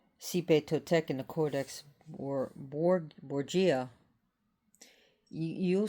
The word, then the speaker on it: Xipe Totec: It will be on Xipe Totec. Xipe. It's pronounced Xipe Totec.